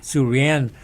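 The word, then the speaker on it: Suranne: Surrienne Suran Jones.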